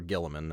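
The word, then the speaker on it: Guilliman: Rabbout Gulaman or Gilamin as it's pretty much always pronounced.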